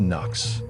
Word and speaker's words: Nux: That's pronounced Knox.